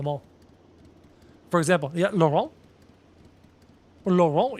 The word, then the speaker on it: Laurent: Laurent, you don't pronounce the T, it is Laurent.